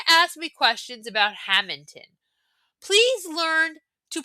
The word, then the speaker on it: Hammonton: If you're going to ask me questions about Hammonton, please learn to pronounce the name of the town right. It's not Hammington. There's no G.